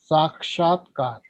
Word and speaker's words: Sakshatkar: Pronounce it. Sakshatkar.